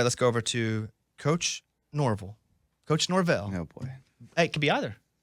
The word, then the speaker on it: Norvell: And they were like, no, it's Norvell. I said, well, I'm from Arkansas. We would say Norvell. How do you say your last name? Norvell.